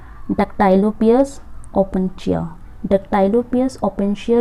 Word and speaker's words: Opuntia: सबसे पहले हमारे पास है डक्टाइलोपियस ओपेंशिया। डक्टाइलोपियस ओपेंशिया जो होता है, इसकी स्पेलिंग आप करेक्ट कर लो, दैट इज़ OPUNTIA ओपोंशिया।